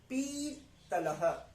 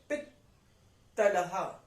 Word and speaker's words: पित्तलः: छोटी है, अगर बड़ी होती तो पीतलह, पर अब छोटी है तो हम क्या बोलेंगे? ई, पित, पित्तलः, आधा त आया, पित्त पित्त पित्त, समझ रहे हैं? मतलब कि हमें आधा त को हमें कैसे प्रोनाउंस करना है, इत इत इत, ठीक है जी।